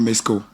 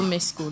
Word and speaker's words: Mesko: Comment ça se prononce? En fait, le nom complet, c'est Roméo Mesco. Roméo Mesco.